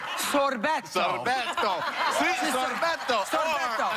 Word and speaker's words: sorbetto: Dawn and I are Sicilian, and we pronounce it sorbetto.